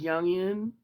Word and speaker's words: Jung: And he re he can represent the darker aspects of the psyche in wanian thought like young like Carl Young Jung young people pronounce it potato potato right tomato